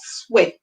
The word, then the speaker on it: sweat: So we have sweat. So the E is making a short sound.